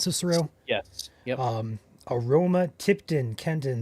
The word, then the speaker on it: Cicero: Is this called Cicero? I believe that's pronounced Cicero.